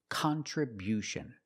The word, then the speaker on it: contribution: We changed the stress to the first and third syllable. Contriution. Contribution. The first and third syllable. Stress the first and third syllable. Contribution. And because we stress the first syllable, the sound changes. It's not con. It's not the short sound. It's con con. We use the short a sound like hot and stop.